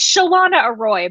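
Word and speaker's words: Chalana Arroy: someone will correct man how to pronounce it it's shalana a Roy but I always refer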